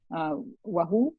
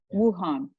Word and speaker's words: Wuhan: Apparently, there was a market in this town, Wahoo, I think is how you pronounce it. Yeah. Wuhan, that they had to